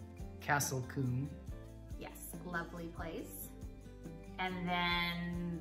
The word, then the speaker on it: Combe: O sound and then the combs you just say come and a lot of